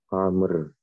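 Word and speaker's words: عمرو: Nah, jadi kalau Bapak Ibu ngelihat waw sesudah ro untuk nama orang yang seperti ini, maka bacanya Amrin, Amron atau Amrun.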